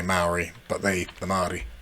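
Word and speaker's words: Māori: Zealand for a bit Mari themselves called themselves Mali with a soft kind of L the kind of thing in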